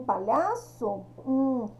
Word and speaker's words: palhaço: Será que eu pronuncio palhaço e sai todas as letrinhas da minha boca? Ó, pá, o pá sai. E o liar? O liar não sai, né? Então, o H aqui, ele não tem o som.